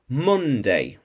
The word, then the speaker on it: Monday: touch to touch and monday not monday with a o with an o spelt with an o but an u sound monday monday and oh oh